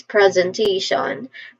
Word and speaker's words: presentation: Pronunciation wise, presentation. First syllable is pres.